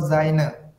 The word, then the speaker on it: sein: Nah, ketika huruf S di awal kata itu dibaca ya, dengan bunyi huruf Z. Jadi cara baca yang benarnya adalah Zain.